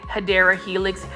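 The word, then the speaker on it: Hedera helix: I love me some hedra Helix and for those that are new to my channel I call um the English ivy which is the correct way to say it hadera Helix hedra Helix so it's just an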